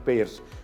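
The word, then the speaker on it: Payr: Here Payer's, P-A-Y-R spelling, but pronunciation Payer's.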